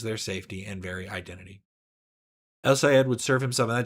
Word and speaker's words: El-Sayed: Michigan Senate candidate Abdul Al-Sayed, I always say his name wrong, El-Sayed, has so far refused to condemn the words of Hassan Piker, his friends, and frequent campaign surrogate.